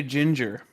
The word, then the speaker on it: ginger: How do you say ginger? Oh, that's right. You don't say it with a hard G.